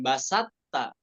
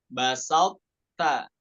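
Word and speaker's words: بَسَطْتَ: Hukmuhu idgham nakis, bukan idgham kamil, bukan basatta, tapi apa? Basalta, ya. Tabqo sifatal idbaknya. Sifat idbak pada huruf to-nya itu tetap kita baca. Ya, basalta. Contoh yang lainnya apa?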